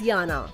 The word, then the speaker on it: Jana: Her name is actually spelled as Jana and pronounced as Yana.